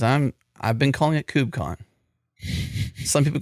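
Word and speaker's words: KubeCon: that's a mouthful but is it cubec Con or is it cubon I like the diversity of pronunciation for different things and I'm not going to pick it I'm not going to pick one he refuses for my personal pronunciation I'm trying to remember what I would say I think I would say cubon I don't know if I would say Cube conon like pronouncing the cube I say cubon like KO o b right uh that's probably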